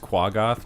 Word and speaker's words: Quaggoth: you know, them, and it's pronounced Quaggoth.